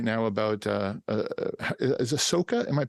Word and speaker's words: Ahsoka: We've got like Trailer Talk and Cracked, and we have one right now about is Ahsoka? Am I saying it right? Mm-hmm. Yeah, Ahsoka.